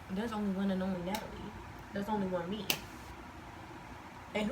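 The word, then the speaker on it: Knatyleigh: I promise you, the way you're gonna spell it in your mind, like right now, you probably like N-A-T-A-L-I-E.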